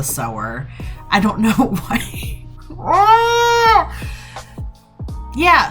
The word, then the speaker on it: Sower: the sour hi guys editing aaron here i don't know why i pronounced it that way um so just excuse me being a idiot but it is called parable of the sower i don't know why